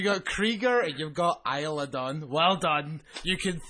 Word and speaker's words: Isla: Isla Dawn. Isla. Isla. Not Isa.